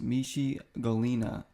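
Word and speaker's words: Michée Ngalina: talking about him and it's pronounced me she Galina so he's 511 he's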